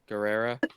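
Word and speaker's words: Gerrera: Oh, Guerrera.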